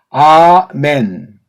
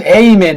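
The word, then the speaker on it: אָמֵן: 우리가 알 길이 없고 아멘 아멘 아니 왜 이 발음이 안 돼가지고 미국 애들 기도하는 거 보면 에이멘 에이멘 아니 아라는 발음이 안 돼서 그런 겁니까?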